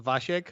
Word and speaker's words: Wasiak: it's in Polish. It's actually pronounced Wasiek, but yeah, that's Wasiak.